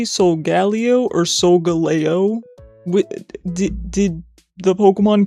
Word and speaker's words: Solgaleo: Pronunciation for Solgaleo. Solgaleo. This says Solgaleo.